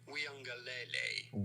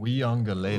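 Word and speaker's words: Uiagalelei: It's not obvious when you just look at the spelling, right? I wonder if it's a silent U. Once you know. DJ Uyangalele. Uyangalele. Lele, a little tongue roll there at the end is what it sounds like.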